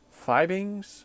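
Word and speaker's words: Fiebing's: I believe it's pronounced Fibings, Fibing, F-I-E-B-I-N-G-S, right?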